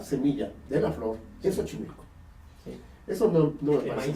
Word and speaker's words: Xochimilco: Xochimilco, que no se pronuncia Xochimilco, SH al principio, quiere decir la sementera de las flores.